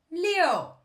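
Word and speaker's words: 六: 2 3 S 2 3 4 Et ensuite pour dire on dit lo avec le 4e Léo qui est un peu comme dans le mot français.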